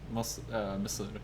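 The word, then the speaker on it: مصر: In reference to somebody who's from Egypt, because Misr is how you say Egypt in Arabic, and I can't hear anything.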